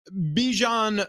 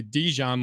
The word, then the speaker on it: Bijan: So Bijan Robinson, who every single time I say his name, I want to say Dijon like the mustard.